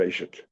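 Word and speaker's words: וושט: you go to the veshet. Some people pronounce it, by the way, veshet. Some people pronounce it veshet, and there's no agreement anywhere.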